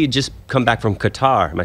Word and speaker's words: Qatar: Well, what was really interesting is he had just come back from Qatar.